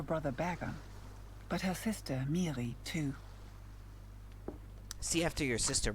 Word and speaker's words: Miri: at home are fights it sounded like she pronounced it miri with a hard r in the early earth